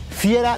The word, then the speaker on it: Fiera: Estamos en la puerta de entrada y en italiano se dice la Fiera de Milano.